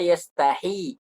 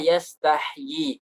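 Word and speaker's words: يستحيي: Jadi seakan-akan kalau kita tidak mengaji itu bacanya innallaha la yastahi. Nah, tapi yang sebenarnya adalah yastahyi.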